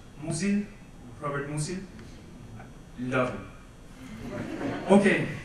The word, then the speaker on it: Musil: I think in German it's pronounced Musil, Robert Musil.